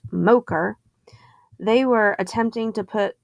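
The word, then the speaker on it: MOCR: m o c r the mission operations control room pronounced mocher they were attempting to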